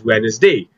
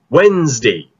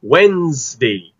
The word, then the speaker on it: Wednesday: don't pronounce it as wednesday we pronounce this word as wednesday ah the other silent d okay it's wednesday wednesday monday tuesday wednesday